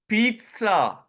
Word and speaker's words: pizza: It is pronounced pizza, like a T in between. There's no T, but it is pronounced here pizza.